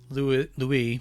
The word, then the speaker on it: Louis: By the time they followed his back trail, Louis, pronounced in the French way, was in a bad shape.